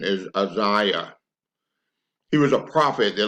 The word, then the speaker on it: Isaiah: 10 oh I used to think the correct pronunciation of Isaiah was Isaiah but it's not the correct pronunciation is Isaiah he was a prophet that lived about 800